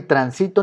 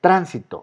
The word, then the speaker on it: tránsito: Pero tránsito, no es ni transito ni transitó, tránsito, acomodo la palabra y entonces es aguda. No, no es grave, no es aguda, no es grave, es esdrújula.